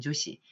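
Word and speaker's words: 女子: 다이가 끝 라고 합니다만 그 때 여자 낱말은 조시 라고 발음을 하시면 되겠습니다 여자의 여아 라고 할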